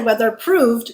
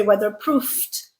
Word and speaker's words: weatherproofed: You don't say whether proved, you say whether proofed with a f sound.